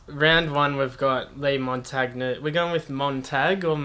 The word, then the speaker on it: Montagna: obviously Italian heritage rich I know the G should be silent exactly ok 10 so